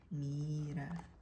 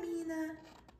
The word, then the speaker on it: Mira: Mina Miriam Mira hey miror Mira hi Mira thought her name was simple and easy but the other kids couldn't say it right they stretch out the eye until it sounds like an e and way sounded wrong